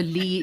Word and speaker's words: Leigh: hyphen in my name also Lee is is not spelled phonetically it's it's l-e-i-g-h so I've been through